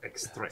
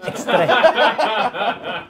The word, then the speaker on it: Extrait: Extrait. Extrait. Say it right. There is now, all right? Extrait. Extrait. Have they got extrait?